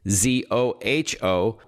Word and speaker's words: Zoho: It's great seeing it, actually, as Zoho, which is spelled just as it sounds, Zoho, delivers a lot of